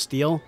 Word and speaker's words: Stelle: thought that was really fun her name is pronounced steel that's great for them I'm not pronouncing it